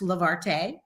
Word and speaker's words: Levarte: to remember how to spell it and it's pronounced lavarte and it means to lift up so we're